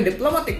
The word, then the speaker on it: diplomatic: world for example diplomatic so in the diplomatic world we put the secondary stress in the first level so you can hear